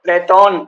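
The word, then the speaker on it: Πλάτων: हैं वो सोक्रेटिस और प्लेटो कहते हैं। उसका सही उच्चारण लगभग प्लेटोन ऐसा कुछ है ना, या सोक्रेटिस, ऐसे बड़ा अलग ही नाम है उसका।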